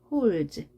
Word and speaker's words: holds: ds가 합쳐져서 z, holds. holds 하지 않고 holds, holds.